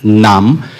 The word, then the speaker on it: nam: It's not a very English nam. It is a very Indian nam. You need to curl your tongue and spit it out.